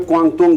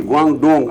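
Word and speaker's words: 广东: में लेकिन उनकी भाषा में क्वांगतोंग बोलते थे क्वांगतोंग यूनिवर्सिटी और स्पेलिंग थी जी यू ए एन जी ग्वांग डी ओ एन जी ग्वांग डोंग हम लोग बोलते थे लेकिन उनकी डी का त उच्चारण होता है तो ऐसे मेरा कभी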